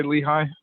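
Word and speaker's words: LIHI: Am I pronouncing it right when I say Lehigh? Yep. You got it right.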